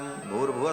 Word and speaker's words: भूर्भुवः: तीनों को जब एक साथ उच्चारण किया जाता है तो ओम भूर्भुवः स्वः ऐसा हो जाता है। विसर्ग को र हो करके और फिर वो र ऊपर चला जाता है तो भूर्भुवः स्वः ऐसा उच्चारण होता है।